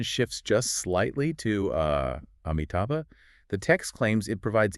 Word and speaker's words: Amitabha: of a single name, Amitabha. Right. Showafin contrasts two different ways to pronounce just the very first letter, the A. Yeah, you can pronounce it as ah, or you can pronounce it as A.